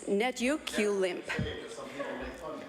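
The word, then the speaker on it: netukulimk: Speaker, I would like to introduce a word that's not often used in this legislature, and I will spell it after I attempt to say it. It's netukulimp.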